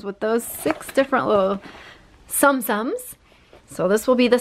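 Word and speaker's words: Tsum Tsum: And these little Zoom Zooms. No, I said it wrong again. Sum Sums.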